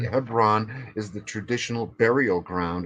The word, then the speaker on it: Hebron: about exactly well what what is heon Right Hebron is the traditional burial ground of all the he the Jewish greats right and except here's the thing it's not pronounced ton it's pronounced Kon right Kon and spelled c h v r